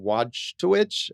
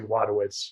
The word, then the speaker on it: Wojtowicz: The actual guy's name is John Wojtowicz. I don't know. I'm probably mispronouncing that. I think it's like Wadowitz.